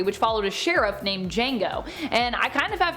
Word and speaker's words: Django: tarantino film django unchained where jango instead is spelled with the silent d also i feel like